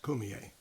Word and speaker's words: Cormier: o r m i e r and it's pronounced Kier and uh he's a character he is the